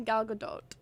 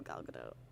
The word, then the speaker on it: Gal Gadot: I've heard it pronounced different ways. I think it's technically Gal Gadot, right?